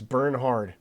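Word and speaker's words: Bernhard: It's burn hard.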